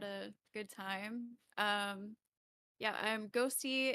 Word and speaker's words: 6HOSTII: Yeah, I'm Ghosty. It's spelled 6HOSTII, and I'm on YouTube and X.